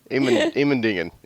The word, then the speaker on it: Immendingen: I went to the Immendingen test facility. And is that really how you say that, or did you mutilate that? Nope, that's how they say it.